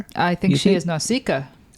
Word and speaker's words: Nausicaä: I think she is Nausicaä. She's Nausicaä? Am I saying that right? Uh no. That doesn't surprise me. It's Nausicaä.